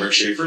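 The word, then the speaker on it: Rich Schaefer: presentation will be by capital programs hello i'm rick shafer the chief engineer my name is spelled r-i-c-h-s-c-h-a-e-f-e-r um a lot of people ask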